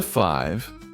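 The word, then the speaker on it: five: On to 5. This word has a silent E at the end that makes the I say its name.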